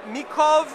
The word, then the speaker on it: Mikov: Hey guys, we're at SHOT Show 2024, and I am here with Pavel from Mikov. Is that how you pronounce it? Yeah, Mikov Knives, and they're a Czech knife company, and